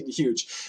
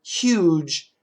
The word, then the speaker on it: huge: g n TI interestingly the word huge many Americans actually say huge and they do sometimes in the UK also huge huge uh without the H but I do recommend the H sound huge then we have Supermarket